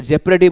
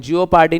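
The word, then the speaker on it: jeopardy: जेपडी इसको देखो जेपरेडी बोलते हैं। जियोप पार्टी नहीं बोलते इसको। क्या बोलते हैं? जेपरेडी।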